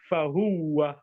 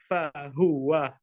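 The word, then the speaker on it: فَهُوَ: Some people pronounce it fahuwa. That's wrong. The correct pronunciation is fahuwa.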